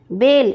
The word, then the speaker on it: बेल: गाती है नंबर ग नीचे ऐसे शब्दों के जोड़े दिए गए हैं जिनके उच्चारण में कुछ अंतर है उनके अर्थ भी अलग-अलग हैं इसका सही उच्चारण करें और वाक्य बनाएं बेरी चिड़िया बेरी की